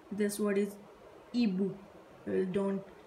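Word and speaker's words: hibou: We don't pronounce H, we will pronounce like this word is ibu. Don't pronounce H, ibu, which means owl.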